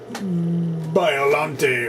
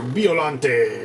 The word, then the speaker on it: Biollante: special color variant of biollante or biollante or bielent however you want to say it whatever country you're coming from is how you're going to pronounce it but uh yeah it's